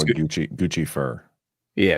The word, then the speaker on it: Guccifer: Guccifer. Yeah, it's Well, it's Guifer is how you pronounce it, but yeah, Guccifer is like Lucifer, but not a demon.